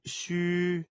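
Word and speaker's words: 嘘: the body cavities housing the internal organs the pronunciation of Shu in pinyin or the standard pronunciation of Chinese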